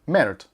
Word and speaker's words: merde: And the reason it was not called the MR2 in France or French is because if you pronounce MR2 in French, it sounds like merde, which is caca, poop, all that stuff.